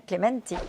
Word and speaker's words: Clémentin: et euh Joakim Cléementin, il m'a appris à prononcer son nom Clémentin qui est un journaliste estonien.